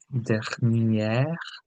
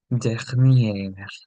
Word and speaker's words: dernière: Now, if you notice, I'm saying dernière, whereas when I say dernier, there's a difference in this pronunciation. This is dernière, dernier, dernière.